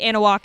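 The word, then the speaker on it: Anahuac: Anna walk or something oh analog anal walk okay so the H is kind of Silent yeah so they beat Ana walk 30 to 14.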